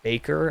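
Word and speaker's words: Bakker: apocalypse by R Scott Baker I believe that's how it's pronounced I always felt inclined to pronounce it backer but I guess it's Baker correct me if I'm wrong please uh but all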